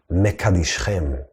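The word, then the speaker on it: מקדשכם: Another way to understand this, even though the word is pronounced mekadishchem, make you holy, since the Torah has no vowels, it can also be read as, and this is just a hint, mikdashchem, as in your temple.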